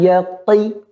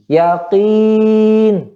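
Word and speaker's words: يقين: Jangan yaqi ya. Kalla law ta'lamuna ilmal yaqi. Ya, perhatikan di sini. Ada qi, ada qi. Ya. Pada huruf qa, sifatnya dia sifatnya syiddah. Apa itu syiddah? Benar-benar suaranya tertahan. Ketika dia kasrah juga suara tertahan. Jangan jadi qa, u, qi. Jangan qi, tapi qi. Yaqin. Jangan yaqi, qi. Itu yang salah.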